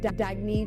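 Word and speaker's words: Dagne: can live life intentionally oh it's pronounced dagy do Dag he means New Dawn a new dawn for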